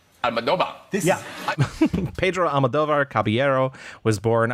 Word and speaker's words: Almodóvar: So anyway, if you want to pronounce it like if you were Spanish, excuse me that I'm so long, then it is Pedro. Yes, you said that. Pedro. Pedro, yes. Almodóvar. Almodóvar.